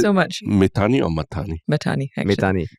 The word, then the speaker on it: Mahtani: Mahtani, actually. Mahtani. Mahtani is the more Indian Sindhi pronunciation.